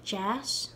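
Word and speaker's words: deas: of the second version the word jazz for nice turned to yes and it's spelled differently d-e-a-s turned to d-h-e-a-s jazz to yes and to say it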